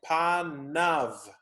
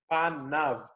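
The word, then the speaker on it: פָּנָיו: So the Hebrew for this is panav. Panav. This is not a nun sofit, it is a vav. A v. Panav. You don't pronounce the yod necessarily. It's just panav.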